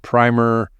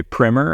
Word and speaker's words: PRIMR: in case I embarrass myself anymore did I pronounce everything correctly including primer your name you did you got it all right I I've heard some people say primer I think that's more like the British way